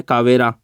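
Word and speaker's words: Calvera: रखना इसका नाम है कावेरा, है ना। एल को नहीं पढ़ते, कावेरा, है ना, साइलेंट है एल, तो कावेरा इसका नाम है।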